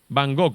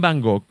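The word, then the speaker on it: Van Gogh: pintura que es Vincent Van gog lo voy a pronunciar así como como suena no voy a pronunciarlo en neerlandés Vincent Van gook fue realmente apreciado después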